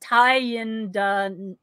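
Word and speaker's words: Thayendanegea: Tyendanega. Tyendanega. Now, I have a friend who taught me that it's the second part of the name, not necessarily the second syllable, is where.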